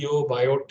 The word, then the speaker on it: Biot: different lines with different Biot number. People can pronounce biot, and that's why I'm using sometimes bio, sometimes biot, so that you remain flexible in that direction.